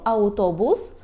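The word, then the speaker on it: autobus: слові аутобус аутобус тут Зверніть увагу що вимовляємо чому не а в а а у аutobus аuto Auto або ананас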